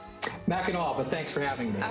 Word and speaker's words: Mackinac: Mackinac, but thanks for having me.